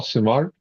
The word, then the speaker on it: Simard: Simard. Yeah, that's it. Simard. You don't say the D. It's kind of No, silent. the D is silent.